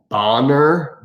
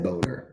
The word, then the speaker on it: Bonner: One time I had this girl, her last name was Bonner, Bonner. Guess what I said? Yeah, I said Boner.